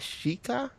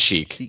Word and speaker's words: Sheik: how to pronounce that is that shika sh Sheik it's just Sheik yeah the ultra ego